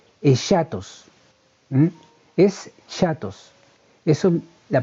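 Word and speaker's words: ἔσχατος: La palabra griega para referirse a final se pronuncia aproximadamente, perdone la fonética, pero yo no sé hablar este idioma, pero así que lo más cercano es chatos.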